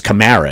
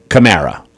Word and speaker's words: Kamara: Alvin Kamara, and it's Kamara, isn't it? Alvin Kamara. That's what he told us. He said we've all been mispronouncing it. Just think of Camaro, Alvin Kamara.